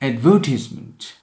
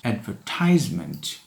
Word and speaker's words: advertisement: It is pronounced advertisement and not advertisement. Advertisement is British. Advertisement is American.